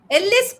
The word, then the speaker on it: Ellyse: Ellyse Perry... and not Ellaaas Perry I was just playing around...